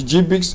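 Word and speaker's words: GBIC: The GBIX is pronounced as GBIX.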